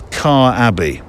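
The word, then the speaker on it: Quarr Abbey: decided to spend at, now I think you pronounce this Car Abbey, pretty sure, with the monks on the Isle of Wight.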